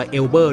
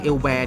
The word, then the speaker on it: Élber: ถาม ว่า รู้ จัก เอลแบร์ หรือ เปล่า บาง คน อาจ จะ ไม่ รู้ จัก ไหม บาง คน อาจ จะ กด แล้ว ออก เสียง ว่า แอลเบอร์ ด้วย ซ้ำ นะ ครับ ผม อ่า renault